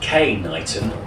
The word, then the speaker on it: Knighton: village of k knighton which is pronounced k knighton to distinguish it from another village on the island also called knighton spelled differently and without